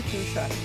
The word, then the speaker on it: fuchsia: So, did I pronounce it right, Mike? Yeah, it's hardy fuchsia.